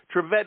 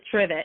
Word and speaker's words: Trivitte: bet on tvet but it's trivet like the thing you put a pot on when it's hot yes absolutely like the